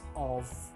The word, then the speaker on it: of: to pronounce these prepositions Oh f is pronounced as of ending with the sound of an audible F